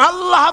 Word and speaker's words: আল্লাহ: পাকের নামের উচ্চারণ হচ্ছে আল্লাহ মুখটা একটু গোল হয়ে যাবে বলেন আল্লাহ আল্লাহ পৃথিবীতে বিভিন্ন জাতি